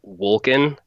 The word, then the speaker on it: Wolken: owners his name is Wolken if he wanted to pronounce it correctly it'd be broken like in because it's a german word that means cloud he looks like a